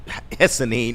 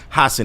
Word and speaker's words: Hassan: You have uh Ahmad uh Hessan. I I'm used to saying it right now. I'm it up. Uh Ahmad Hassan. There it is. Hassan.